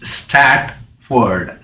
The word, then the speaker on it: Stratford: make sure that the name of the university is statford not Stanford believe in Stanford is one of the best universities in the world so we are not speaking up that stamp for the University we're only speaking about stat Ford University am I pronouncing properly extract for University not Stanford University thank you very much